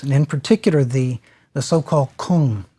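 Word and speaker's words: !Kung: in particular the so-called Kung. Now, I'm not really pronouncing that correctly. If you've seen it spelled, it's exclamation point K-U-N-G. The exclamation points stands for a click sound.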